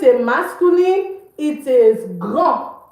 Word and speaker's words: grand: The D is not pronounced. Grand. But when it's feminine, it's pronounced grande. And what does this mean? This means big. It also means tall. Okay, you see that? It means big. It also means tall, grand. So you see, for the masculine, we don't pronounce the D. We say grand.